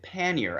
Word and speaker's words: pannier: to the 13th century this is an old word in English which is why we pronounce it pannier and that is to